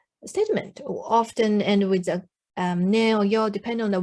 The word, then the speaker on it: ね: Then this ne it's a little bit intonation go up when you pronounce like this, ne.